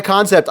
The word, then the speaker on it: Kansept: some folks get confused it's spelled k a an Sepp but it's just a spin it's called concept this is the concept